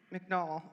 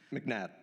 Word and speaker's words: McNabb: And then the second question is, you brought attention to Isaac McNall, I think is how I say his name. McNabb, yeah. McNabb.